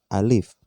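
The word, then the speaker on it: ألف: bersyakal maka cara bacanya Yang pertama Alif bukan a karena belum berharokat maka dibaca Alif kemudian Mbak fakta-fakta gym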